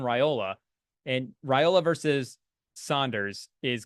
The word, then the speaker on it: Raiola: I don't, we don't want to start pronouncing it like it's a pasta, but I think it's Dylan Raiola.